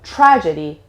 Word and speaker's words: tragedy: evasion first of all the stress is on the first syllable so tragedy tragedy don't say tragedy no